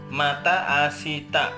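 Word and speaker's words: また明日: Kalau dibaca biasa itu mata asita. Dalam pengucapan itu huruf di sini huruf si ketemu dengan huruf T, si huruf T ini biasanya dibacanya langsung asta. Seakan-akan i yang di sini ini hilang. Ya, hilang. Jadi dihilangkan.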